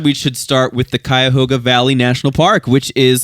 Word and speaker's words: Cuyahoga: I'm like, yeah, we're going to Cuyahoga Falls. Cuyahoga. And it's like, what? It's like, it becomes like a one syllable.